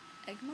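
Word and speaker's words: Egmont: gorgeous in personally those two were from egg egg mon is that how you say it yeah egg mon USA publishing company and then I got this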